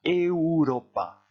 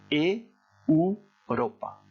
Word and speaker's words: Europa: Cuidado con la pronunciación. Se pronuncia Europa. Europa.